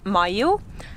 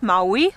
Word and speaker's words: Maiu: It is Maiu, not Maui.